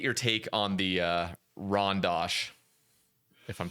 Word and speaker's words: Rondache: people off cuz I was calling it like Rondache. I had no clue what this was. Rondache. But everyone is like, "Jesus Christ, pronounce it right. It's Rondash."